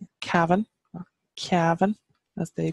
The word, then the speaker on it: Cavan: which means hilly land down here we have Kevin Kevin Kevin as they pronounce us my uncle's from cabin on Kevon